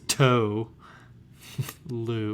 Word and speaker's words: Tolu: like, the way that his name is said phonetically, it just says toe. Lou.